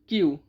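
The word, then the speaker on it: queue: अक्सर नेक्स्ट है क्वी। क्यू यू ई यू ई क्वी। क्वी को बोलते हैं क्यू। क्यू मींस कतार।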